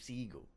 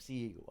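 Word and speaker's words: Seagal: I'm bad like Steve seagull I mean I know it's pronounced seigal but again if he's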